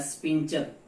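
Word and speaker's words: sphincter: कई बार पूछा जाता है स्पिंचर, स्पेलिंग पे मत जाना, इसको हिंदी में बोलते हैं वाल्व।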